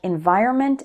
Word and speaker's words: environment: mistake is forgetting to include the N before the M in words like Environment and government again it's because when speaking fast the end sound gets shortened or eliminated for example this new